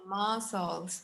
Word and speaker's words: muscles: The C, it's mute. So we're gonna say muscles, right?